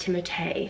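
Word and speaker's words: Timothée: main actor Timothy although I think his name is pronounced timotay I'm pretty sure cuz I've watched so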